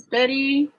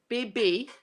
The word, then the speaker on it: Bibby: Here's Biddy. Bibby, not Biddy. Sorry.